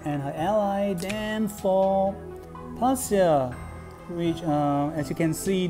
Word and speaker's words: Patyle: Then for Pasya, which as you can see, the spelling is P-A-T-Y-L-E, but when I look at the pronunciation, it goes nearer to Pasya, or Pasya.